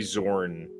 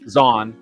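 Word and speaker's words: Zahn: wish that they could do the uh Timothy Zorn Z or whatever how do you say his name me Zan Zan yeah thank you um I read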